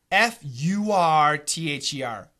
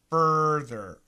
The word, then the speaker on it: further: like in daddy father father fur t h e r further further yeah this is really different too it's a good question so obviously the ending is the same thether so let's look